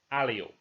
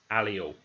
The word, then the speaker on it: allele: Therefore, the correct pronunciation is allele. I don't want to hear anyone saying it any different ways. The correct pronunciation is allele.